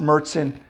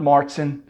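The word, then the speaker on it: Märzen: It is pronounced Marzen, not Marzen.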